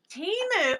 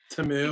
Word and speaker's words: Temu: Timu, or sorry, Tamu, that's how it's pronounced Tamu.